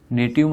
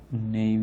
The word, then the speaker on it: naive: नेटिव मतलब नई हुई है ना, नया यूज़र, जो नया नया आया है ना उसको नेटिव यूज़र बोलते हैं, या कौन से बोलते हैं, नेव यूज़र, नेव यूज़र। ओके, स्पेलिंग लिख रखी मैंने NAIVE, जिसको बहुत कम नॉलेज है।